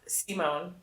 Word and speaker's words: Simon: this season, especially for Simon or Simone is how they pronounce it in the show. And I know there's always discourse about the pronunciation of Simone. Actually, Pix is probably the best person to ask about this. You'd pronounce it Simon.